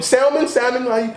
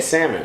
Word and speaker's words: salmon: What do you salmon? How you? Oh, I say salmon. Salmon. So the L is silent. Just no L.